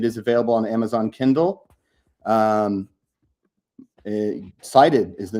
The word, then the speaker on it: Cited: Cited is the name of the book. Cited. How that's CITED, not SHIGHTED.